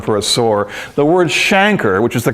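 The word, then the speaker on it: chancre: a now i used to call that a canker but that's not right a canker is a more general term for a sore the word shanker which is the correct pronunciation is reserved for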